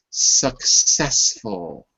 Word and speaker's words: successful: Successful. Successful. Be careful because you're putting a k. There's no k. You're saying success, but there's no success.